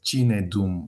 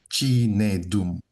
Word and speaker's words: Chinedum: Just in case, it is Chinedum if you were having problem pronouncing it. Chinedum.